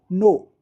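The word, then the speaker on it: know: देखिए यहां पर हमने वर्ड लिखा है नो। तो के यहां पर साइलेंट है।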